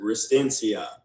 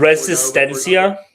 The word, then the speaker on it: Resistencia: How did I pronounce it? Restencia. Um, another place that I I love. Resistencia.